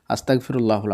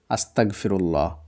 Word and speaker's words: আস্তাগফিরুল্লাহ: সবচাইতে ছোট দোয়া হচ্ছে আস্তাগফিরুল্লাহ যেটা আমি প্রথমেই বললাম আবারো আমি বানান করে করে বলে দিচ্ছি আদনতাস আকার গ ফয় হস্লে আকার হ আস্তাগফিরুল্লাহ এর মধ্যে আপনার সবচাইতে